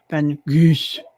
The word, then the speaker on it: Van Gogh: And his name is actually Van Gogh, or as they Oh. would pronounce it there, Van Gogh.